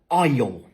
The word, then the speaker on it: aisle: Donc, on dit aisle, donc la même règle de prononciation.